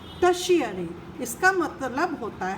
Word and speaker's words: tertiary: The third is टर्शियरी। This word TERTIARY is pronounced as टर्शियरी।